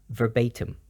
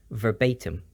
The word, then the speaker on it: verbatim: phrase word for word it's pronounced with the ba as a b sound and the I as a u sound verbatim verbatim some examples I just heard